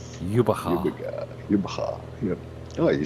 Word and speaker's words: Jubbega: I live near a town called Jubbegaar. How do you spell that? J Very carefully. U double B E G A. Jubbegaar. Jubbegaar. Yep. Oh, you said it just right, actually. He can't spell it though.